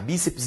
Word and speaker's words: bíceps: Só que ps não é uma sílaba da língua portuguesa. Por que não é uma sílaba? Porque a gramática registra que toda sílaba deve conter pelo menos uma vogal. Gente, quando eu falo para você que bíceps, PS aqui, não há vogal, por isso que não é sílaba. E é por isso que essa palavra é dissílaba e mais. É uma palavra que é paroxítona, terminada em coisa diferente